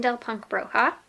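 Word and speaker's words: Bindle Punk Bruja: So the first one is Bundle Punk Bruja by Desideria Meza. How do you pronounce it? Bindel Punk Bruja.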